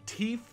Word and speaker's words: teef: So focusing on the more cultural aspect, yes, teef, or which teef, but of course Greenskins pronounce it T-E-E-F, is the main currency